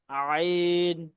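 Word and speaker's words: عين: একদম আস্তে আলতভাবে আইন আইন আইন আইন এই যে এই হাখ থেকে উচ্চারণ করছিলাম গলার মাঝখান থেকে একদম ভিতর থেকে ঠিক আইনটাও সেই জায়গা থেকে হবে আইন একদম গলার ভেতর থেকে আইন আইন গইন ফাফা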